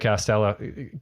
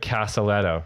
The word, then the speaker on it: Casaletto: excited to have Craig Castello oh I already mispronounced your name Craig caselletto right yes Craig caselletto sorry he